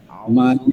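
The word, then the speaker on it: أَعُوذُ: বিসমিল্লাহ আউজুবি রাব্বি নাস আউজুবি হবে মনে আছে কালকে ধরা দিছে আউ জাল পেশ জু জু জাল পেশ না জাল পেশ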